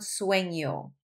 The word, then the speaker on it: sueño: It's that ñe sound, sueño.